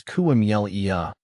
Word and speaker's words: camellia: The pronunciation of camellia can be a bit tricky. The correct way is camellia, with emphasis on the second syllable.